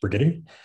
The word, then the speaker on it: Brigety: Just a point of process, my name is pronounced Brigety.